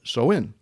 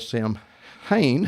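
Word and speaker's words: Samhain: Now Halloween's origins date back to the ancient Celtic festival of Soen. Some may have heard this called Sam Hayne, if I could pronounce it right, but so is closer to the original name.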